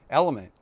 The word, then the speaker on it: LMNT: And that's why today's video is sponsored by Element, pronounced Element, just like it looks.